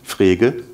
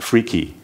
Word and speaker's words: Frege: By the way, Frege is a bit difficult to pronounce in English. It's a German word, a German name, Frege. And if you're not a German native speaker, you're allowed to call that freaky, if you want to.